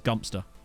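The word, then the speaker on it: Godmanchester: far as I'm aware God Manchester is gumpster I I think it's not that near me but I I am aware of it it's existence I'm fairly certain it was it's gumpster and now you're all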